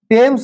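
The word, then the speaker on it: Thames: কি নদী টেমস নদীটার নাম কি টেমস উচ্চারণটা এরকম হবে টেমস এই টেমস নদীর উপরে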